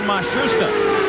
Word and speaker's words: Matsushita: of the penske cars they've changed the pronunciation again they've given it to us four or five different ways now it seems that they have settled on mashusta they started the year with matsushita but he is the